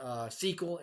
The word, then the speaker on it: SQL: be, so to speak, via SQL, which is pronounced SQL, and it stands for Structured Query Language.